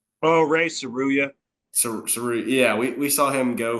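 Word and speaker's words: Tsuruya: Oh, Ray Saruya.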